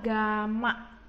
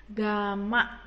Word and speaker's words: gamma: Berarti di sini rumusnya V sama dengan V0 dikali 1 ditambah ini bacanya adalah gamma. Gamma ya. Bacanya gamma dikali delta T.